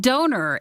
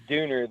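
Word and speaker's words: döner: Now, see, we always call it donor. Is it Dooner? It is Dooner. There are two dots above the O. Yeah. And it actually makes a U sound. Ah. Yeah. So that's how they pronounce it.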